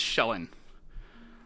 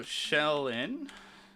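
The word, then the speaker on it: Shelyn: started feldrin major deity of this region is shellin it's spelled s h e l y n minor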